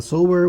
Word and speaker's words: sow: The sower went out to sow his seed. E se for substantivo, pessoal, pasme você, a pronúncia é sow, que quer dizer porca.